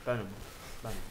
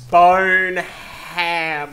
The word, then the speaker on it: Bonham: said botom Bon it's Bon B pretty sure that's how it's pronounced bone you don't pronounce the h like you don't pronounce bone ham because say it like